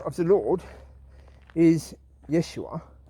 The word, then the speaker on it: Yeshua: of the lord is yeshua if you say that slowly is yes you are so when you say